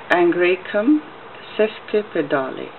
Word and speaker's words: Angraecum sesquipedale: can you see that it says angry come says clip the Dali that's how it is pronounced so uh this is